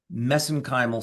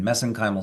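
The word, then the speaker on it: mesenchymal: Uh that's how they pronounce it over in Ireland. We pronounce it differently here in the in the US but I use the Irish pronunciation messenymal stem cells.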